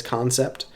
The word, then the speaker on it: Kansept: guys or these knives i assume what they want you to say is concept but it's spelled k-a-n-s-e-p-t that in my brain reads cancer i don't know um